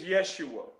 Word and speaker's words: Yeshua: And well, I know his name is Yeshua, and Yeshua. it's pronounced like Joshua.